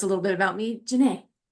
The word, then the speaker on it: Jana: It's spelled uniquely, but it's basically just like saying Renee with the J.